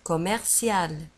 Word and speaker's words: commercial: ولاحظوا على أن كوميرسيال نجد فيها اثنان ام، يعني ام ام او، كوميرسيال. وفي آخر الكلمة نجد سي اي ال وتنطق سيال، كوميرسيال. Le centre commercial.